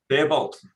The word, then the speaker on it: Faribault: Yeah, how do you pronounce that? Fairbolt? Faribault? Fairbolt.